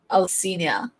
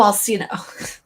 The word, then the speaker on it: Alcina: The name is pronounced Alcina. Oh, Alcina.